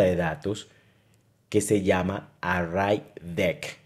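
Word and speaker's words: ArrayDeque: datos que se llama raid de que así se pronuncia es una estructura de datos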